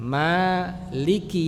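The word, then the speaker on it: مالك: Mananya panjang dua harakat ya. Maliki yaumiddin.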